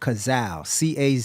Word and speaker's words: Cazal: So the original frame was called Cazal, Cazal.